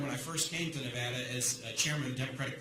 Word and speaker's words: Nevada: for a while, and I've misspoken and sometimes mispronounced something. Okay, that happens. Now, I did learn when I first came to Nevada as chairman of the Democratic Party, the first thing everybody told me is, it's Nevada.